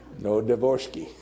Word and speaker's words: Novodvorski: so they asked, and somebody said, "Say it like this, never divorce me." Novodvorski.